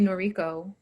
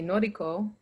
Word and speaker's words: Noriko: And even today, I say Noriko, and if I'm in a space that's mostly Asian, I say Noriko. So my pronunciation changes depending on audience all the time as well.